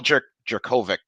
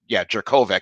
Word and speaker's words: Jurkovec: They Phil Jerkovic, Jurkovec, that's how you pronounce it, from Yeah, the Notre Notre Dame.